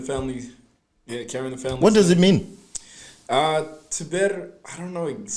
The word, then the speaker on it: Tèbir: My Tèbir, it's actually pronounced Tèbir.